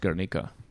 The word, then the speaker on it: Guernica: fake basically and so it's pronounced garnica no whatever god right